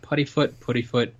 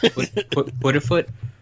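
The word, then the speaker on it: Puddifoot: Yeah, Puttyfoot. Yeah. Like it wants to be pudding, but it's not. Right. Puttyfoot.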